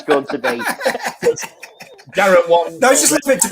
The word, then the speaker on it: Garrett Wang: Yeah, it's written Wang, but it is pronounced. When we saw him at Sci-Fi Weekender, he was very explicit at saying that it's Garrett Wong, because he found out